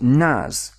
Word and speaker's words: NAS: an acronym for network attached storage and it's pronounced nas and nas is all about sharing storage at